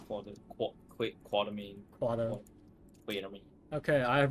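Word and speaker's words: Quatermain: There's no R in his name, so he's a quarter? Just quarter main.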